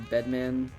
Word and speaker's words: Bedman: Did you listen to the Bedman starter guide? I did. We have official confirmation in a way of how to pronounce the character's name, which is Bedman.